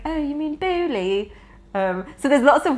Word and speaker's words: Beaulieu: B E A U L I E U. So, in English you're supposed to say Beaulieu. We just have to Beaulieu. In French it's Beaulieu.